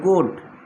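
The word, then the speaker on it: could: ক্যান থাকলে সেটা হয়ে যাবে কোড। এটা কিন্তু কোল্ড না, অনেকে কোল্ড উচ্চারণ করে, এটা কোড হবে।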